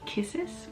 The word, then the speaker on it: Cissus: From what I've seen, pronunciation is actually Cissus, so with a K, but I think I've been calling it Cissus for a long time, so I will probably be still referring it to the Cissus Discolor.